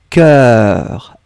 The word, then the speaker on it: cœur: Pas du tout, Sundar. Le premier que vous avez écrit, corps, CORPS. Un corps. Or, corps. Le deuxième, un cœur. Un cœur.